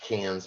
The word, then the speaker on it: Cairns: going to fly to Cairns for a three-night stay this is the Great Barrier Reef region it is pronounced cans by the way the r is completely silent uh and we will